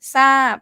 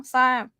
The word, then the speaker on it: ทราบ: Sâap, stop final. Sâap. Dead syllable, long vowel, so it's falling tone.